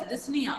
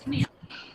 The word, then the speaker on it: dyspnea: it as, here the P is silent, okay, Sushmita. You pronounce it as dyspnea. Dyspnea. Not dyspnea.